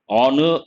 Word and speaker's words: honor: as i said honorable honor the letter h is silent based on that we cannot say uh we have to say and they have received an honor these examples honest honor